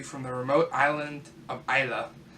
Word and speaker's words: Islay: the remote island of Isla spilled is la why not is lay its Isla in the Western Isles